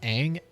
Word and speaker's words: Aang: middle who they pronounced everyone in the movie pronounces it ong there's no correct pronunciation of aang ever in it and if if you're